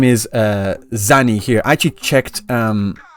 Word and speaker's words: Zani: Here in Japanese, it's being written as Zani. Zani. So Zani. So Going from the Japanese, that's how her name is supposed to be pronounced, not Zany. It's supposed to be Zani.